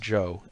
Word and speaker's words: Chow: "Spell it Chow if you want to be exotic. It's still pronounced Joe, and that's his name.